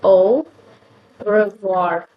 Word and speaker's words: au revoir: So O-A-U is basically pronounced as it's basically pronounced as au revoir. Revoir. Wow. Yeah, just like that. Au revoir. So au revoir, A-U-R-E-V-O-I-R. So yeah, French is basically like confusing, Like O is this. How can A-U, like A-U is like not O, right? So like something else. We don't pronounce in English A-U, O, right?